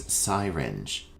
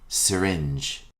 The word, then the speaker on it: syringe: before your meal our next term is commonly mispronounced as syinge the correct pronunciation is syringe repeat after me syringe a syringe is a magical instrument used to inject fluids